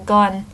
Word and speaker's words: Gun: Leaving off his family name is strange, because his name is only one syllable, Gun.